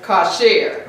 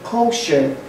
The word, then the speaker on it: kosher: The pronunciation and spelling kosher is from the Ashkenazi and Yiddish influence.